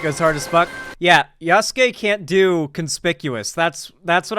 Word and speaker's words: Yasuke: Also, the game trailer yesterday confirmed I was pronouncing it right, Yasuke.